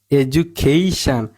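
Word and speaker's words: education: টি আই ও এন দেখেন ই এ হচ্ছে open syllable open সিলেব এর উচ্চারণ হয় লং হয় রচন কি লং হয় তাহলে আমাদের উচ্চন করতে হব ই আচ্ছা ই ডি ইউ ডি ইউ সবসময় মনে রাখবেন যু উচ্চারিত হয় ইজু ইজু তারপর হচ্ছে খেই তাহলে এটা অফেন্সবল এর উচ্চারণ হবে এই লিখতে হবে আমাদের এজু খেই তারপর লিখতে হবশান তহলে এজুখেই এজুখেইশান আচ্ছা আরেকটা ট্রিক্স বলি বা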